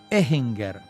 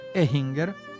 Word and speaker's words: Ehinger: la casa belser que él no se llamaba alfinger llamaba Ambrosio ehinger pero los españoles que estaban con él no podían pronunciar ehinger y lo llamaron al finger y él se quedó así él va a fundar